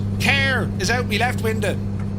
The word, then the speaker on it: Kerr: Or if you look at it on the map, it looks like Cahir, but it's pronounced Kerr.